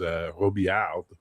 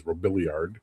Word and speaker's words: Robillard: You know, my buddy, he's in Rhode Island, but his family name is Robillard, which they, of course, you're Americans. You pronounce it as Robiliard.